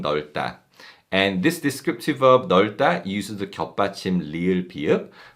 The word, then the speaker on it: 넓다: also say 이 방 넓다. 이 방 넓다. And this descriptive verb 넓다 uses the 겹받침 리을 비읍, but the second 겹받침 비읍 is silent and we read the first 겹받침 리을.